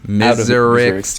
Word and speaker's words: Miserix: It's Miserix, Thomas. Okay, they have to break Makuta Miserix out of prison. The pronunciation police over here. Anyway, and everyone on this team those are like two completely different names. They are. No, I was talking about when I said Miserix. Oh, okay. You said you say Miserax. I say Miserax because it's spelled with an A.